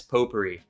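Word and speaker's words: potpourri: Poperri, but it's spelled pot pirie, huh?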